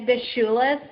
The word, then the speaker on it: Bishulis: Yeah, it's Bishulis, so there's like a sh sound, but you were like, I mean, that was pretty much on point compared to how other people try to pronounce it.